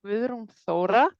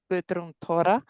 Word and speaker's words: Guðrún Þóra: My name is Guðrún Þóra, if I pronounce it the Icelandic way, or Guðrún Þóra. It might be a little bit easier.